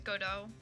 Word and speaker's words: Godot: I think it's Godot. I don't think you pronounce the T.